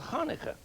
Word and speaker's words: Hanukkah: did the same thing with a festival called Hanukkah you know that one that's very good pronunciation this is a menorah menorah and the